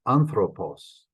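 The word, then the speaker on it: ἄνθρωπος: Falls whole anthropos Paul accents on the first syllable there anthropos oh that's a man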